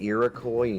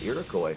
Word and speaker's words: Iroquois: We have a school called Iroquois where I grew up. When we say Iroquois, you guys just pronounce it the French way. You guys have like a French pronunciation of it.